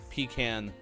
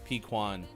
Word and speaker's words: pecan: uh it is because caramel and caramel are two different ways to say the same word much like pecan pequan and i don't remember